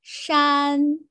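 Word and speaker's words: 山: And this is Shan. Can you repeat after me? Shan.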